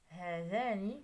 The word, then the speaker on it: هذان: إذا هذا الخانة الأولى، هذان كذلك في الخانة الأولى، هذان، هاتان فالألف لم يحذف،